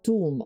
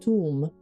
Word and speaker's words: Thumb: Thumb. Pronounced tomb. Okay, tomb.